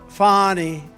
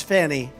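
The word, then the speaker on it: Fani Willis: right has anybody fonny it's pronounced fonnie F A ni I that's Fanny but she likes it fonny when she became the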